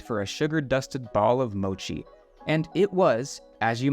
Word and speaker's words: mochi: It took me coming to Japan to realize it's not pronounced Moki. At the Asakusa market, I stopped by a sweet-smelling stand for a sugar-dusted ball of mochi, and it was, as you might expect, decadent.